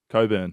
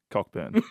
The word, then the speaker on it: Cockburn: cockburn oh thank you so why wouldn't you say cockburn why would you call it cockburn in the first place huran why why why why haven't why haven't make the name Coburn just make something